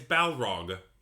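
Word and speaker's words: Balrog: I don't know it's Bal Rog with an L Bal balog Rog yeah okay balog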